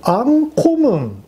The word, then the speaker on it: ANKOMN: アンコムンと読むんですね、